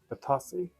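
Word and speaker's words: Bitossi: Or Batosi? We're never quite sure how to say that. I think the Americans say Batosi, and we say Batasi.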